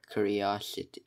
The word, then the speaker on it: curiosity: Curiosity. It sounds like you're saying city after Kyria. It's like Kyria City. But that's not how to spell city, but you pronounce it as city.